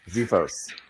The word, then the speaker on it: xiphos: I believe it's pronounced Xiphos. a Zephos. Zephos? Yes, Zephos.